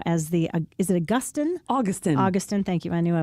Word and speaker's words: Augustin: Augustin, thank you. I knew I was going to get my syllables wrong on that.